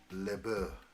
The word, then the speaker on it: LaBeouf: What is the correct phonetics for LaBeouf?